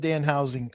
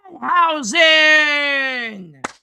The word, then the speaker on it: Danhausen: This whole thing with Danhausen. I know that you and no. You said it wrong. It's Danhausen.